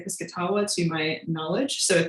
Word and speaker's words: Piscataway: shore, and also the Piscataway people who are also referred to as the Piscataway. I've heard both pronunciations. When I've heard Indigenous people say it, they say Piscataway to my knowledge.